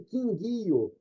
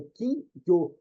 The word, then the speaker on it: kingyo: Escreve quinguio, uma palavra trissílaba, sendo que o peixe, o nome é uma palavra dissílaba, é quinguio, 2 fonemas e não 3.